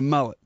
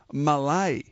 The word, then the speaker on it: Mullett: few different names what what is the correct pronunciation um right a mullet so what's your nickname